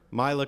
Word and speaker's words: Mila Kunis: Actor Mila Kunis, am I pronouncing her name correctly? Mila, see? I knew somebody would know.